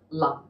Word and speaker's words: Lam: pronounced as the low-falling lum um it's not the a sound like lamb it would be more like a lump almost like an lu